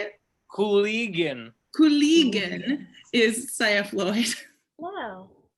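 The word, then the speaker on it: Kulygin: Cooligan.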